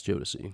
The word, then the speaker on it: Jodeci: Combs worked with newly signed artists like, and again, can't pronounce these. Did we decide it was Jodeci? Bless you. Thank you. And me. Yes, Jodeci.